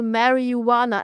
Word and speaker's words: marijuana: And I said, yeah, it's really interesting, you know, marijuana. And in Germany, it's called marijuana. We pronounce the middle H, right?